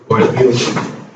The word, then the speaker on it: Euler: Sorry, pronounce it Euler. Euler.